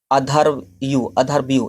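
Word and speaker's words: अध्वर्यु: अध्येता हो जाएगा यानी कि अधर्व्यू इसे प्रोनाउंसिएशन आप कर लें क्योंकि अधर्व्यू ये इसके अध्येता थे।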